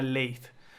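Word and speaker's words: Lathe: un modificador ese modificador se llama late late como el vainilla como el latte vainilla como el café latte pero no se escribe igual pero es una buena forma de recordar se aplicó el leit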